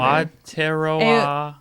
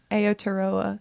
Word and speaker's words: Aotearoa: Aotearoa. Aotearoa. I think. Aotearoa. I think it's Aotearoa. Yeah. Yep. Teroa? Aotearoa.